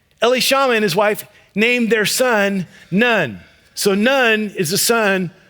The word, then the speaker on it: Nun: Joshua, the son of Nun, which if you just take that phonetically, sounds like he has no parents.